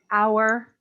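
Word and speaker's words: hour: Remember, there are very few words in English where you have an H that is silent. Our, air, honor, those are the words that have a silent H.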